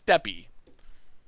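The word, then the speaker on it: Steppe: deal in this matchup you pronounced step wrong it's steppy i've never heard anyone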